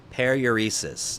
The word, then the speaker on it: paruresis: Paruresis. Let's see here. Pronunciation. Periuresis.